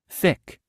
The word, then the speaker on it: thick: thick, thick. 여러분, th 발음이에요. thick, thick.